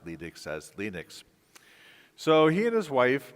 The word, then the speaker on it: Linux: of Linux there was questions as to whether it was produced pronounced Linux or Linux okay and I'm good friends with Lenas tval so I said to Lenas Lenas how do you pronounce it and of course lenus is from Finland he says well my name is lenus tals and I pronounce lenux as lenux and he actually created